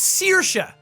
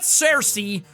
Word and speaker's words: Saoirse: It's Saoirse, not Cersei or Swearse or anything like that. Saoirse. It's pretty easy to say. It just looks really weird because there's a load of letters together that shouldn't be together. But that's Irish all over.